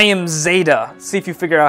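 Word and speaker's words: Xeyda: "I am Zeta." See if you figure out how to spell that, KTD.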